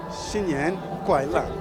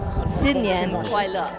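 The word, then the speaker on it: 新年快乐: Xinyan Kuaila. That's right. Xinyan Kuaila. My pronunciation first. I want to get it right. Xinyan Kuaila.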